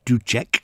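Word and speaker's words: Dussek: Spore and another composer called DK or Duchek to pronounce his name properly um were befriended by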